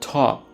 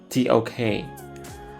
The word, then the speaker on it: TOK: Some people pronounce it talk, but some would pronounce it TOK. I personally like TOK more for clarity.